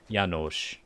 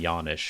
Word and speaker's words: Yonish: no wrong pronunciation but apparently my name is actually pronounced like janosh and i've been saying yawnish for my entire life